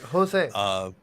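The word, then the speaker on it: José: like Spanish, J is an H sound. Yeah. Like Jose.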